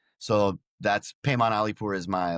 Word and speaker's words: Paimon Alipour: So, my name Payman Alipur, which is spelled P A I M O N, and then last name A L I P O U R. So, that's Payman Alipur is my like handle on all social media.